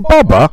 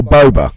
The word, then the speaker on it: Boba: right here's the big is it ba ba or boba boba is how I've always pronounced it yes II work we